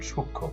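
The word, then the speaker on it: সূক্ষ্ম: সাননাসিক উচ্চারিত হয় যেমন সূক্ষ এখানে সংযুক্ত ব্যঞ্জন খিয় ছিল সাথে ম যুক্ত হয়েছে মটা উচ্চারণ হয়নি কিন্তু এই উচ্চারণটা সানুনাসিক হয়েছে এবং চিহ্নটা চন্দ্রবিন্দু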